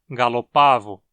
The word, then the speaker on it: gallopavo: com galinhas e Pavões e o a na sílaba é longo O que justifica a pronúncia como uma paroxítona gallopavo assim meleagris gallopavo domésticos